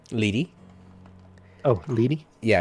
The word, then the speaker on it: Leery: Leary right lady oh lady yeah it is spelled leery but yes lady okay lady lady you're